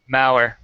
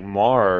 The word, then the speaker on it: Mauer: How do you say their last name? Mauer. Mauer? Yeah, Mauer. I was thinking it was like Mar or something. Fuck. Nope, Mauer.